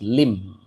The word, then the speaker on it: limb: So you should pronounce it as limb.